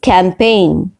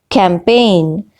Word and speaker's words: campaign: the first word is campaign campaign now in the word camping g is silent g is not pronounced okay second word is